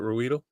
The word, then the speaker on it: Ruedel: Ruedel?